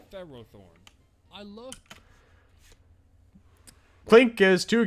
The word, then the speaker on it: Ferrothorn: Pharisee oh sure also why do official sources including the anime the raw Thorn when Ferris would imply its name should emphasize the first syllable Ferrothorn I love clink is